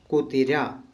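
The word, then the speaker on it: കുതിര: ठीक है ना, तो इसका प्रोनाउंसिएशन है कु ती रा, कुतिरा, कुतिरा।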